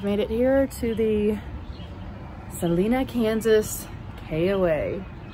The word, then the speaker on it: Salina: And I've made it here to the Salina, Kansas KOA. Oh, I think it's Salina, actually. I wasn't saying it right.